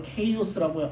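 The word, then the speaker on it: chaos: 질서 없음을 카오스 영어 발음으로 케이오스라고 이야기합니다.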